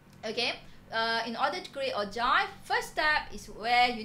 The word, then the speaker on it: ogive: Okay, it's pronounced as ogive.